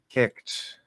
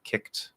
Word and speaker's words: kicked: k uh popped okay it's called e d ending but it's just pronounced with the t e is silent um it's a t because the consonant before the ed is voiceless so kicked popped okay if i